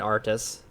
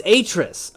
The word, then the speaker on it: Atrus: we're saying we're saying artists yeah I said that's my pronunciation of the the father's name yeah I haven't no it's Atrus okay my bad it's a trace because it's spelled AR tus least that's been the